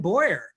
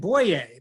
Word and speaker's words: Boyer: Dibert, de Turk, or the two biggest ones, we pronounce them Moyer and Boyer. Big names in this area. They would pronounce them Moyer and Boyer.